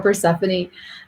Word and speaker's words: Persephone: to say her name as he stood before persephone goddess of the dead and sang until she